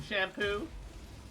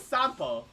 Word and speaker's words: Sampo: Look, I get that his name is spelled like 1 letter off, 2 letters off from Shampoo. But it is Sampo.